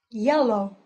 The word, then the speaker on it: yellow: say well again like tall tall tall tall yellow yellow so when L is put at the